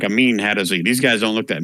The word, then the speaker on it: Hadozee: So, and they're called HADOZ. I think that's how you pronounce it. HADOZEE.